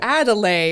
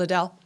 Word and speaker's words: Adele: is so for the longest time people would pronounce it in funny ways or adelay or something right and so when she became